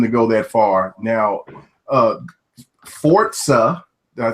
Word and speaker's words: Forza: Now, Forza. Did I say it right? Forza.